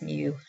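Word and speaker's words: μ: u say them together you say it like it's actually spelled m mu but you would say like a kitten I guess Mew um and this is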